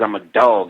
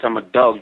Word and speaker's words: IMMADAWG: Last year, my first video that came out is I'm a Dog. It's spelled IMMADAWG. That's 32 shots. I'm a Dog.